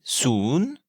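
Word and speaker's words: ศูนย์: Zéro se dit soon, c'est un ou long et montant comme une question.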